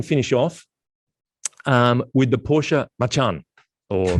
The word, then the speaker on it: Macan: Now I can finish off with the Porsche Macan or Macan. We're constantly corrected on how to pronounce it.